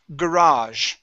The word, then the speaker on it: garage: Okay, in England, okay, or in the UK, okay, they pronounce it garage. All right, but in the United States, we say garage. Okay, it's the same word, but the stress is at the end.